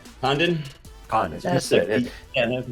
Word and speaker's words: Condon: Condon. How do you say your last name? Condon.